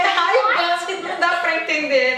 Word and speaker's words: Ray-Ban: Lembra o nosso R de novo, que a gente fala high, eles falam ra, né?